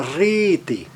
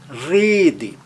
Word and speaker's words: Rede: Agora, olha na palavra rede, rede. Ele é seguido de apenas uma consoante e, portanto, tem um som longo, mas também fechado.